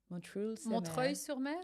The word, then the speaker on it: Montreuil-sur-Mer: And it's called, I'm going to butcher the pronunciation, but Alex might be able to help me, Montreuil-sur-Mer. Montreuil-sur-Mer.